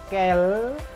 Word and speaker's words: quelles: Ada dalam bentuk feminin singulier, quelle tulisannya, dibacanya quel, agak lebih panjang. Lalu si feminin singulier ini punya bentuk feminin plurialnya juga, yaitu quel. Gitu. Ya. S-nya tidak dibaca, si quelles-nya.